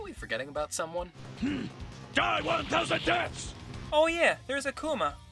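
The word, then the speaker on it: 天: The kanji for heaven, pronounced 10, appears on the back of his gi.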